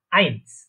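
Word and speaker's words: eins: তাহলে এ এবং ই বা ই অথবা আই, এই দুইটা যদি একসাথে থাকে তাহলে আমরা জানি আই। আই এরকম উচ্চারণ হবে বা এরকম প্রোনাউন্সিয়েশন হবে, প্রোনাউন্সিয়েশন দেখেছিলাম। তো তাহলে এটা কি উচ্চারণ হচ্ছে, প্রোনাউন্সিয়েশনটা কি হচ্ছে, আইনস।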